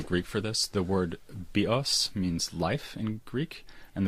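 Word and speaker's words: βίος: go to the Greek for this, the word bios means life in Greek, and the word bios, with the stress on the second syllable, means bow, as in bow and arrow.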